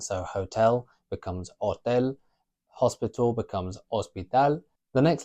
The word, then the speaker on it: hotel: We never pronounce the H in Spanish, with the exception of some words that are from a foreign language, like the word hippie.